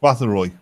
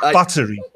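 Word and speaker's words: Báthory: You mean Elizabeth Bathory? Oh my God, will you fuck off? It's amazing how pronunciation actually has an effect. Yeah. It's just a small. It's Bathory or Bathory, not battery.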